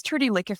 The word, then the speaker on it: Trudi Liekefett: So, my name is Trudy Licker. I like to pronounce my name because it's spelled very differently.